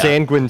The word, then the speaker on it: Sanguine: And yes, Sanguine Seas, they said themselves it is pronounced like penguin.